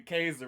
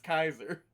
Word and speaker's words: Kaiser: name all the time calling me caser but it's kaiser no no either one